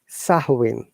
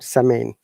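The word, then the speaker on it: Samhain: to describe a little bit some sawing okay sahuin not sameen once again though is that the am is silent and it sounds like sahui so sawin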